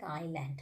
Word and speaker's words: island: letter a in that case we are not pronouncing the later is like island island spinning what is the spelling of island